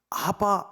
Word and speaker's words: 아바: 우리의 아버지시요 근데 성경은 아바 아버지라고 그렇게 말씀해 아바라는 말은 아람어 그래요 우리나라 말로 번역하면 그게 뭐냐 아빠입니다 발음이 똑같아요 아버님도 아니고 아버지 도